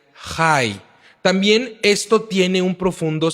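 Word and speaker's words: חי: Esta raíz está relacionada con la vida y se pronuncia Jai.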